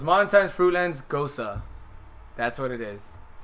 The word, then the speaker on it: Gose: Well, G-O-S-E, you Ghost. pronounce it Gosa. Goes So So it's once again, it's Gose.